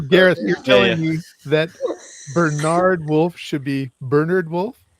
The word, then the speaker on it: Bernard: Is he Is he an English author? Yeah. Okay. In that case, it's Bernard.